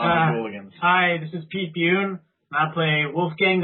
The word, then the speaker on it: Bune: saying my name right A lot of people don't say Pete buun correctly they say Pete bun Pete Pete bunny it's all right cool